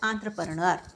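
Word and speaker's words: entrepreneur: to pronounce this as anra okay don't pronounce it by the way you spell it okay the organizer he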